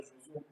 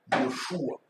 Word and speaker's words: Josué: Tout ce que vous voyez, Josué, là, on ne prononce pas Josué, Yoshua.